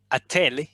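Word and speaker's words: отель: Atel, you stress the second syllable, right?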